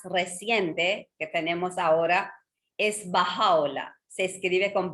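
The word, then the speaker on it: Bahá'u'lláh: Entonces, dentro de esa cadena, el más reciente que tenemos ahora es Baha'u'lláh. Se escribe con B grande, A-H-A-L-L-U-L-L-A-H. Es Baha'u'lláh.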